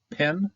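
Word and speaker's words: פ: Often, if it's standing by itself like this, it's not going to have a dagesh, so it's going to be pronounced with the F. If you have a dagesh, it's going to be a P. If no dagesh, it's going to be an F.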